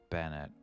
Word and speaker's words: Bennett: Bennett is just Bennett. Nothing changes. Now this lady, on the